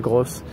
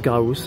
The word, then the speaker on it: Graus: Et voilà, je pense une des dernières étapes de la journée, donc à Graus, hein, c'est pas Gross, ça se prononce Graus, hein, c'est moi qui m'étais trompé.